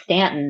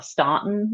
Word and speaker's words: Staunton: in a town called Stanton Virginia um pronounced Stanton not Staunton like it should be um especially if you're